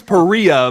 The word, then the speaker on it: Perea: I thought it was Perea, but it's Perea.